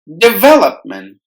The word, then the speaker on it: development: d well up month development so we have the stress on the syllable well development affairs Affairs the